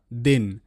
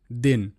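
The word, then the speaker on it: then: তো শব্দ দেখো টি এইচই এন এর উচ্চারণটা দেন। দেন।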